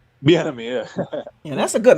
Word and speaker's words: Bieniemy: Bieniemy. Bieniemy, yeah.